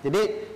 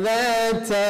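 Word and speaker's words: ذَاتَ: Nah, di sini ada za-nya, terkadang, ya, terjadi kesalahan dalam membacanya adalah cenderung kesalahannya ke huruf jim. Contohnya adalah sayasla naran ja. Tapi harusnya dibaca za, bukan ja atau jim.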